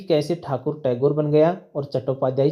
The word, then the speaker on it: ठाकुर: बंगाली उच्चारण बंगाली भाषा में इस शब्द का उच्चारण ठाकुर ही किया जाता है।